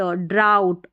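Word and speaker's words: drought: और फिर DR को ड्र, आउ, OUGH का आउ, आउ, और टी को ट, ड्राउट, और यह है स्लाउ।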